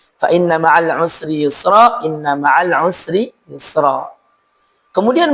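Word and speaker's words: يسرا: Sin pada kata usri dan sin pada kata yusra.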